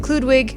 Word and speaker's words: Kloodwig: I've been watching include Ludwig Ludwig let me say it right cuz I don't want to disrespect I nailed it clewd wig she's a youtuber she's